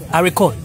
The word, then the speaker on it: haricot: Haricot? Yes. Okay, I forgot. See how French is difficult? That you cannot pronounce the last letter.